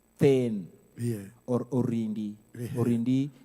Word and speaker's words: then: In Luo, we call it ten. Ten, you say T-H-E-N, like you're writing down the word then. Yeah. But now we pronounce it in my mother language as ten.